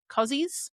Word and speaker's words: koozies: Apparently, in the US, you call them koozies. I think that's how you say it. Koozies or cozies. Either one.